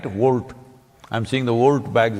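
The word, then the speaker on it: Wolt: Volt. I'm seeing the Volt bags everywhere on the motorcycles. It's spelt wrong though.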